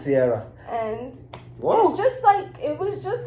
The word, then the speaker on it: Cierra: that sister was named Cierra, which rhymes with Cierra. It's Cierra.